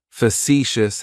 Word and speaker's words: facetious: of describes me, is facetious. Facetious has 3 syllables, and the stress is on that second syllable. It's like you're just saying the letter C for see. That first syllable has that schwa, that sound.